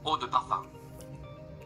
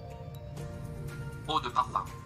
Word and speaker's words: eau de parfum: Eau de parfum. Jadi sebenarnya bukan eau de parfum ya teman-teman, tapi Eau de parfum.